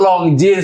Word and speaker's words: Longines: Ini long jeans treage dia ini udah tulisannya jeans. Jeans longines. Longin tuh long jeans bacanya.